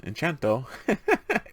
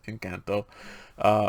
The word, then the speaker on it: Encanto: Even though I keep wanting to pronounce Enchanto, it's Encanto from Disney.